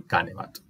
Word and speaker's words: canebat: Como la vocal es de unión, es breve. No es larga. Y por ende se acentúa esta antepenúltima sílaba. ¿Sí? Canebat.